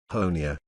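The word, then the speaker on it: Honea: third year as Sheriff honia rhymes with Tony has become something of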